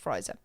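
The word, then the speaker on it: Frizer: Marlo you have Ingram friser frer I think it's pronounced friser he was a property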